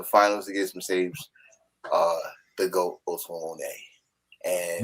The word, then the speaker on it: Moné: against Mercedes, the GOAT Moné. And not you didn't say it right. No, you didn't say it right. Mercedes the GOAT Moné.